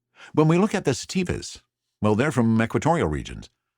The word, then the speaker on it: sativa: year on the podcast some people mispronounce that sometimes it is not stevia or satvia it is sativa and here in the